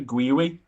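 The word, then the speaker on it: Guiu: People are telling me it's pronounced Gui.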